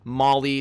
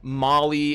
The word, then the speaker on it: Maulie: I love the name Molly is kind of like a play on the common female named Molly like mo LLY but it's it's spelled like a maul that you would hit somebody with so I'd love to